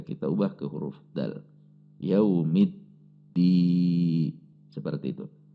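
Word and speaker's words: يوم الدين: Perhatikan cara membacanya, karena di sini ada tasydid, maka ini harus ada tekanan. Ketika tekanannya tidak tepat atau tasydidnya terkesan hilang, maka bisa membatalkan Al-Fatihah. Jadi harus ada hentakan.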